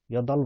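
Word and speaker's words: 여덟: हाल्ता भनेको चाहिँ चाट्नु, अर्थात् यदल भनेको चाहिँ 8 अर्थात् 8। यसको पनि बको उच्चारण भएन है साथीहरू, यसको पनि बको उच्चारण भएन, यसको पनि बको उच्चारण भएन।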